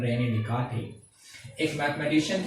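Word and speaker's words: Descartes: French mathematician Renee देकार्ते, actually उनकी spelling और जो प्रोनाउंसिएशन है दोनों में डिफरेंस है। फ्रेंच मैथमेटिशियन थे तो फ्रेंच में हमारे पास बहुत सारे वर्ड्स ऐसे होते हैं जो साइलेंट मोड पे होते हैं, तो वहां पे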